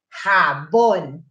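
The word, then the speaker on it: jabón: Dapat pag binibigkas mo yung G and J, parang inaano mo yung ano, yung pinapaamoy mo yung hininga mo sa ibang, sa kausap mo, habon.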